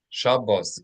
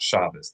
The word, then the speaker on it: Shabbos: So Shabos, Shabos, Shabbos is the Ashkanazi pronunciation of Hebrew. If you're being careful with Ashkanazi pronunciation and there is some variance in it, but it's not shabas.